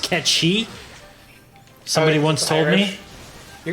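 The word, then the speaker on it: Cait Sith: Number 3, Kate Sith, which apparently is pronounced Ketchi.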